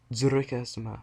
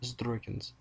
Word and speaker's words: Dzuroikaha Sama: for the record, the pronunciation is Dzuroikaha Sama, not Zdroikans.